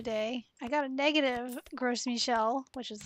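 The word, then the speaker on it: Gros Michel: When I was playing on my phone the other day, I got a negative Gross Michel, which is how you say it, for the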